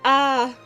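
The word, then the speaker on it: あ: not this is a it's the equivalent of the vowel a in English you pronounce it as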